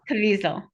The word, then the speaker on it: Caviezel: Yeah, so I have to say that I give Mel Gibson and James Caviezel. I always mispronounce his name. oh, Caviezel.